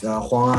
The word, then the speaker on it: Ali Wong: So it sounds more like Huang. And I looked up her Chinese name is Huang Ali, so it checks out. It actually pronounced Huang. Nice.